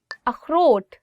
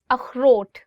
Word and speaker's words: अखरोट: अखरोट, walnut. अखरोट. So this word khe, it also comes from your, I would say like throat. So you'll really have to do is like अखरोट.